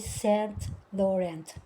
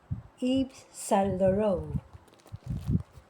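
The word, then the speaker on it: Saint Laurent: ang bigkas sa kanya hindi pala e Stent Laurent mali pala yun ang dapat palang bigkas dito kayo. Ang original nito ay taga-Fance kaya medyo iba ang kanyang pronounce dito sa kanyang Laurent. Hindi pala yon. So ang tama ay Salo.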